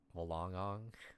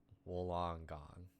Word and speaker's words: Wollongong: I pronounce it as if there were two G. If there were two G's. Okay. Wollongong.